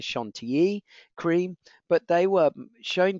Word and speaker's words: Chantilly: out and actually made what we would refer to as Chantilly cream actually the credit correct pronunciation is Shon te cream but they were